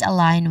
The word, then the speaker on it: align: I mean the letter G is silent here. Of course, as you can see on the spelling, there's a letter G right before letter N. And that the sound of letter G is not pronounced here.